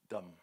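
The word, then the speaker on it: דם: Dam. D-M. Only consonants, and there is a vowel just to help pronounce. They have only consonants, but the vowel is there in the pronunciation.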